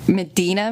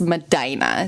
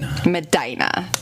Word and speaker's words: Medina: A source in Ohio has told me that it is not Medina Middle School, but it's Medina. So Travell Henley was a middle schooler at Medina Middle School. Medina, not Medina.